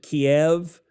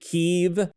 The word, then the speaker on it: Kyiv: you know, the capital, everyone used to pronounce it Kiev, and now it's considered, I guess, more enlightened to pronounce it Kyiv. So I have to refer to one of my favorite dinners as chicken Kyiv? Apparently. Not chicken Kiev? Right. Apparently, whether it's one syllable or two, I will leave that to the linguists.